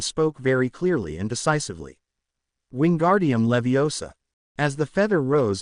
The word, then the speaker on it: Wingardium: It's Wingardium Leviosa. Make the gar good and long and put the stress on the o in Leviosa, not the a.